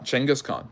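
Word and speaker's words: Genghis Khan: is asking why Changas chenas Khan so chenas is the more is the better way to say his name and chenas Khan just means ruler um uh Khan means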